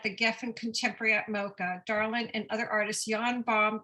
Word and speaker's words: Darlyn: us what you have my name is darling susan yee it's commonly mispronounced darlin and ye those two are the sticking points um i i